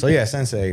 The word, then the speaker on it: Scendsei: sensei, but it's still spelled like, cause that came from Scratch and Blend put together. That was Scratch like, and Blend, okay. Yeah, SCEND.